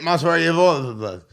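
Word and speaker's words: Movsar Evloev: Mazavar Evlov.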